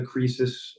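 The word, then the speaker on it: Kresus: um uh and so I simplified the spelling to just k-r-e-s-u-s like creases because that was phonetically right so crisis you know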